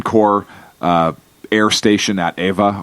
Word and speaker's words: Ewa: uh air station at Eva or AA as some people pronounce it Ewa that was also attacked